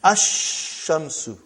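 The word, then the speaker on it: الشمس: And then ashamsu. No al. No lamb. When I say I I I shouldn't say al. I say I should say no lamb.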